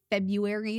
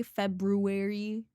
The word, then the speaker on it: February: February. Why is there an R in the middle? I know. I I feel like most of the time I don't pronounce the R. I I hear people pronounce the R sometimes and I do it sometimes myself. February. February. It's a dumb word, bro. You do actually say the R.